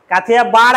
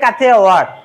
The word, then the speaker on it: কাথিয়াওয়াড়: কাথিয়াবাড় আমরা বলি, কিন্তু অ্যাকচুয়াল উচ্চারণ হচ্ছে কাথিয়াওয়াড়।